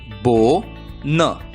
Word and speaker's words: bone: नाम है ओ, और इसलिए बी की आवाज ब, ओ का नाम ओ, एन की आवाज न। शब्द का उच्चारण होगा बो न, बोन।